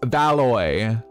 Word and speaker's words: Valoi: hello um happy pride your name is pronounced valoi oh like alloy but valoi i hope i said